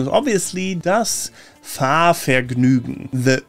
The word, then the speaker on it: Fahrvergnügen: The correct pronunciation is obviously das Fahrvergnügen. The Ü can be tricky for sure. It's not quite U, it's not quite Ue, it's Ü. And the GN is almost like a Nyo sound. So Fahrvergnügen, Fahrvergnügen, Fahrvergnügen, Fahrvergnügen.